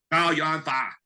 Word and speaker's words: Chow Yun Fat: And let me say it right. Chow Yun Fat. That's how you say Chow Yun Fat's name in Chinese.